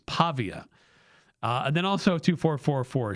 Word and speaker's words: Pavia: I keep saying Pavilla as if it's like a uh Spanish name like the the two L's and like tortilla, but it's not.